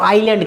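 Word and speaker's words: island: होती है, उसको बच्चों आइलैंड कहते हैं। तो इसमें एस साइलेंट है, इसमें इसको आइलैंड, तो हम आइलैंड की हम बात करेंगे।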